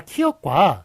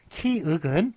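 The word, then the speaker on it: 키읔: 자, 키역과 키윽이 있는데 뭐가 맞나요? 자, 이거 기역만 기역이라고 부른다고 그랬죠? 키윽은 윽입니다. 윽.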